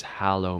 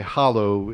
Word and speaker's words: hallow: sure all right well I pronounce it hallo I can't claim that that's the absolute Universal pronunciation of that word but if I say Hollow it implies I'm carving something out from the Middle where or something so